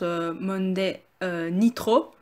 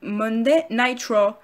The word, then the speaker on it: Monday Night Raw: Car vous l'avez peut-être jamais remarqué, parce qu'en français souvent on prononce Monday Nitro pour la WCW, mais en fait en anglais c'est Monday Night Raw.